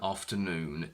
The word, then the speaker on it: afternoon: It's actually much easier to say afternoon tea than afternoon tea. It's very heavy to say the second option.